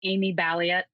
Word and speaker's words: Balliett: So on Twitter, it's Amy Ballet. Um, for those of you listening, Bali is spelled B like in boy. A L L I E T.